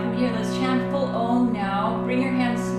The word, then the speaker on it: Om: And the final sound of Om is the It's a nasal M sound, like in yum, yummy.